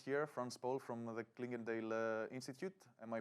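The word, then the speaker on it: Clingendael: patiently waiting guest here franz paul from the clinkendale institute am i pronouncing it correctly very good nikos thank you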